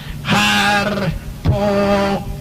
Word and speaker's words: Harpócrates: Los místicos de los misterios de Eleusis pronunciaban aquel nombre en la siguiente forma: Harpócrates.